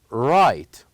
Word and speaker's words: right: are G and H remember here G and H are silent letters what do you mean by this is that we don't pronounce them the word will goes like write write very good let's start